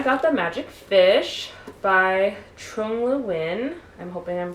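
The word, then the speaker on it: Trung Le Nguyen: found his audio name pronunciation, and it is pronounced Trung Le Win.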